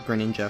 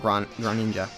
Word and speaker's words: Greninja: yeah i just find i find the pronunciation of greninja funny because it's not gran ninja or any sort of like it's sort of like americanized i guess i don't know it doesn't use the french pronunciation which is fair enough